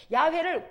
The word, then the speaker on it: 야훼: 근데 히브리 사람들이 여호와를 발음할 때는 뭘로 하냐면 야훼라고 들어봤어요? 야훼를 한국식 발음으로 하면 여호와, 그렇거든요.